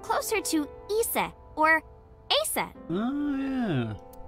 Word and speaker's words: Aset: is named Isis but in ancient Egyptian it's pronounced closer to ISA or aset oh yeah H how do I explain this